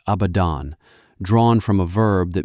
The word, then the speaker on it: Abaddon: In the Hebrew of an earlier age, the syllables were spoken as abadon, drawn from a verb that means simply to perish, to vanish, to be undone.